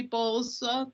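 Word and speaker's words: Bolca: name and address yes uh i am bowles the last name is spelled b is in bravo o l c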